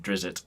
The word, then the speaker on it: Drizzt: pointed it out so it I'm just saying that I I said wrist and he said Drizzt and I was like well the all right